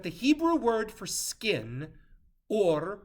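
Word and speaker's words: עור: Hebrew word for skin, or spelled with an ayin, sounds just like the Hebrew word for light, or, but now spelled with an aleph.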